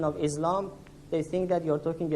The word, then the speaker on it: Islam: to be more accurate we prefer the pronunciation of s for islam rather than islam because for muslims there